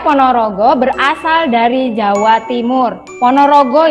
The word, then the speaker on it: Ponorogo: berasal dari Jawa Timur Ponorogo ya bukan Bogor ono sing kebalik bacanya itu Ponorogo ya itu nama kota